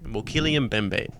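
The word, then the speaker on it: Mokele-mbembe: called the mokilian bembe i know how to say it and that's the correct name mokillian bembay and now this is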